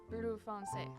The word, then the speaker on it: Bleu foncé: People didn't like Blue Foncé very much. Oh, that's how you say it. Bleu foncé.